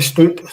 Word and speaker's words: Stout: No, I think we'll stick to Stout. That's the right way to say it. Right, okay, folks. So listen, all you folks in America and Canada and that, if you hear me saying Stout, it's spelt stout. Okay, but that's how we would say it. Okay, It's not a mistake.